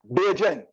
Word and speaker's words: Bajan: So on the poetry, about the poetry, what is, I'm gonna see if I'm gonna pronounce this right, Bajan written poetry? Bajan, right.